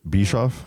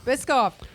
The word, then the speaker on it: Biscoff: is that how you say it is it bishof Biscoff Biscoff I think TR right is it good we